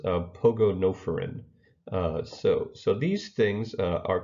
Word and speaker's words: Pogonophorans: And so this word is pronounced pogonophoron.